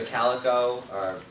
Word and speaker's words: Calico: Tony is going to do an intro to Calico and Kubernetes networking. I always forget how to say it. I always want to say Calico, but it's like a cat.